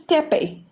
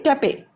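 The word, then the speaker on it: tapir: This is Tepe. Not this R is silent here. Okay, Tepe.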